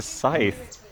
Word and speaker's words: scythe: if I have a Sith can I hurt you with it wait a what uh did you pronounce it Sith it's a scythe oh I've always called